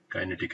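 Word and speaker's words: kinetic: उनखे असां चवंदा आहियूं काइनेटिक एनर्जी या किनेटिक एनर्जी। हिन ॿ प्रोनाउंसिएशन्स कंदा आहिनि, ऐं किनेटिक बि चवंदा आहिनि ऐं काइनेटिक बि चवंदा आहिनि।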